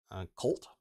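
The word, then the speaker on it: Chult: dlc travel through the jungles and dungeons of colt i think it's pronounced c-h-u-lt in the forgotten realms searching for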